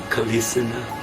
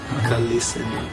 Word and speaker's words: Krishna: And in Chinese, Kalisina. Kalisina, because they can't pronounce the R.